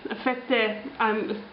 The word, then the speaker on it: fette: Fette, like some sort of like a hard bread, pretty much. And he's clearly supposed to be 007. Fette rhymes with sette, which 7 is.